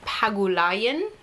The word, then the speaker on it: Pagulayan: This is written by Jeff King with art by Carlo Pagulayan. Did I pronounce that right? That sounds right to me, yeah. Pagulayan.